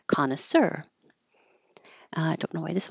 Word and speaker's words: connoisseur: to practice that sound this word is from French so the stress is on the last syllable connoisseur and we're not saying it total French style but we're keeping the stress in the last syllable connoisseur uh